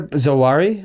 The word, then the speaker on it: Zawahiri: Zawahiri? Is that how you pronounce his name? Zawahiri, yeah.